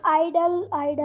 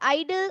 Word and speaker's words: idle: So दोनों की pronunciation क्या है? Ma'am आइडल। Very good, आइडल, आइडल।